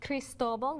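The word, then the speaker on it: Cristóbal: little bit different and another thing it is pronounced crystal ball with the accident over the Oh many people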